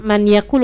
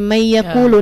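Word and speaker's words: مَن يَقُولُ: bacanya manaku kita bilang itu ada Idam nak gitu kan bacanya bukan Man yaakulu tapi May yaqulu Nah itu itu semuanya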